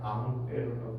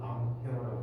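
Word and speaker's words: Ampère: 아무페라라고 원래 프랑스 사람인데 앙페르라고 부르는 사람인데 영어식 발음으로 앙페어라고 해서 앙페어라고 이야기하고 있어요.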